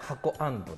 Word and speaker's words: HAKO&: けどお店の名前なんて読むんですかお店の名前は箱アンドですあそのままそのまま